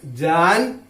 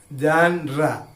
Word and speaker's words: genre: G-E-N-R-E spelling is different, but it's pronounced as a genre. Genre.